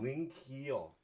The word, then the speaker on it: Lynge-Kehl: I'm sorry, I want to pronounce it correctly. Lynge-Kehl. Ling Lynge-Kehl. Ling Keel, MUFON board member, probably our highest power Yes.